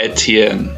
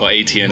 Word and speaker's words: Etienne: originally actually oh yeah it's actually pronounced eten yeah but it's my